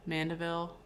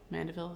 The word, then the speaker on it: Mandeville: Um, but also people might know Fable of the Bees by uh Mandavville. Mandeville is how you say that.